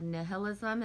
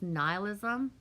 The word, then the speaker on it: nihilism: it's not said nihilism it's nihilism oops that's how to say nihilism like the river in